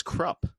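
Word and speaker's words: Kruppe: the names are okay so Krupa Mr Erickson pronounces it as crop oh okay and then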